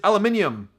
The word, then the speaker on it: aluminium: used to that way the way you guys say is a bit more difficult for me which is aluminium that's how we see